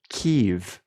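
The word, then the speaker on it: Kyiv: It's It's It's spelled K Y I V and it's pronounced Keev.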